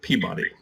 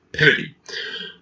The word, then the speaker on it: Peabody: Now we look at that name and think, well, that must be Colonel Everett Peabody, but no. He was from Massachusetts, he was a Harvard graduate, and he pronounced his name Colonel Peabody.